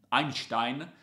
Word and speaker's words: Einstein: un working with einstein einstein perché diciamo se pronunciare la tedesca e non all'italiana che parla di memoria